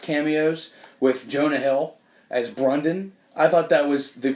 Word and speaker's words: Brandon: with Jonah Hill as Brundon. I thought that was the funniest part. And, his name tag said Brandon, but he pronounced it Brundon.